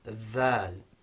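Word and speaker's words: ذ: Then dhal, which is represented in English by a th, in the combination th in words like this and that.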